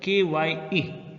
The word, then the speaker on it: chi: It is pronounced as KYE, chi।